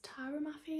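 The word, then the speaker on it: Tahereh Mafi: my top author was Tara Mafi I think is how you pronounce it the author of the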